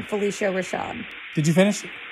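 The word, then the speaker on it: Phylicia Rashad: And Felissa Rashad's in it. Just like Claire Huxtable. Hold on. What is her name? Felissa Rashad. Spell that. No, you spell it. Is it Phyllis A. Rashad? Exactly. Felicia Rashad.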